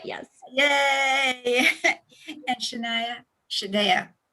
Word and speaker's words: Shaunay: Shaunay, like the singer Shaunay.